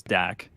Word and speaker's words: Dak: lot of flak and it rhymes with flak his name is Dak through for 374 you're